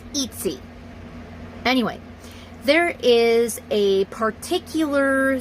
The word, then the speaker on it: Etsy: It's not Etsy, it's Etsy. Okay, that's how it's pronounced. It's Etsy.